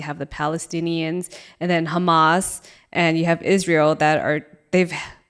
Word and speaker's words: Hamas: Hamas.